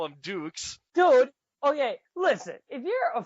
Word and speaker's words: Dux: jean-claude Van Damme yeah if you watch bloodsport his name is spelled the same way and they called Frank Dux dukes well Dukes but he's like Oh Frank books